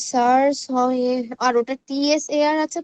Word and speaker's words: tsar: দা সার্স হয়, আর ওটা TSAR আছে তো, টিএসএআর ওটা